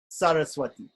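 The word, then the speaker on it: Sarasvatī: removal okay and the third one is dental on the teeth sir sir Sir sir Saraswathi Saraswathi so to practice the s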